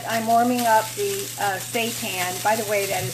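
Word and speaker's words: seitan: in this Skillet I'm warming up the uh St tan by the way that is spelled s e i t a n if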